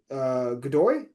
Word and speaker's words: Godoy: I think the only weak part is Godoy. Is that, am I pronouncing that correctly? Iñaki Godoy, yeah.